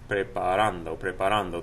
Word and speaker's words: preparo: Preparo. The stress is right here over that a.